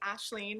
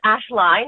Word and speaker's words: Ashline: So today I have Ashleen. Did I say your last name correctly? It's Ashline. It's exactly like it's spelled.